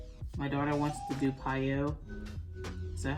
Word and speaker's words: PiYo: My daughter wants to do Piyo. Is that how you pronounce it?